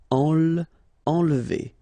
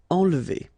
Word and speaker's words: enlever: Okay, nasal here, en, and then don't insist on this here. Enlever. Enlever.